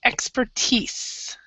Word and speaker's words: expertise: this one right here we would say expertise expertise yeah so pretend like that I isn't there and this is a correct e expertise okay and also also